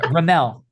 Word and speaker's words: Remmel: Yeah, Remmel. Just say Mel, like Remmel.